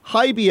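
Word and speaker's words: HIBY: spelled high hig B why outdoors but it's pronounced high be outdoors brand-new online retailer located in Sydney Nebraska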